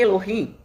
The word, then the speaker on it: Elohim: O nome Elohim, ou Elohim, como muitos pronunciam, uns pronunciam Elohim, outros Elohim, o H tem um som de R, né?